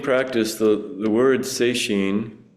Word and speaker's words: sesshin: The Sesshin practice, the word Seishin, it's a two-character compound. One pronounced Setsu, one pronounced Shin, means touching the heart-mind.